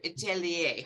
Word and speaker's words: atelier: And I see in the chat, I think I might have like dropped a syllable in atelier. So atelier, hopefully now I am pronouncing that correctly.